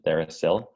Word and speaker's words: TheraPsil: It's therapeutic, right? Psilocybin, TheraPsil. So that's an easy way to pronounce it if you're having trouble.